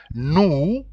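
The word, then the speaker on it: nous: and like I said when you see new it is n o u s then the verb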